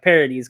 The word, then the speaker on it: Paradis: kind of interesting but it's spelled like paradise but it's pronounced like parodies because it's french um i didn't know